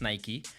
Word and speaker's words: Nike: And to honor the late basketball legend, Nike, yes, it is pronounced Nike, released a tribute video narrated by Kendrick Lamar.